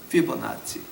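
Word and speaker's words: Fibonacci: 피보나치. 제가 그 한국 분들을 위해서 제가 발음을, 그러니까 그 스펠을 불러드릴게. F-I-B-O-N-A-C-C-I. 자, 이거는 이태리 발음이에요. 영어 스펠링은 좀 다른데 이거는 이태리 스펠이에요.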